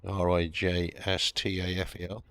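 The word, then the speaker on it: rijsttafel: Ristafel, says Jimmy, Rijstafel, is an Indonesian meal with a silent J in it.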